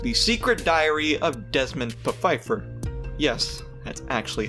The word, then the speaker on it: Pfeiffer: Also, there is one more series: The Secret Diary of Desmond Pfeiffer. Yes, that's actually how you pronounce it.